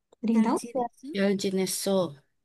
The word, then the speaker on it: 잘: Tadi kan huruf yang kayak angka 2 itu kan ada L, ada R. Nah, kalau si huruf ini ditaruh bawah jadi L ya. Pokoknya harus jadi L. Kalau di depan kayak nama saya jadi R gitu ya.